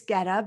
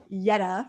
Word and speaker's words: Gedda: the english way guetta but i know that's not how you pronounce it in swedish um it's yetta right in swedish yes okay i've been